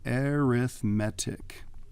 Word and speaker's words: arithmetic: that an arithmetic sequence so arithmetic okay we pronounce it a little bit differently again because it's an adjective so let's see if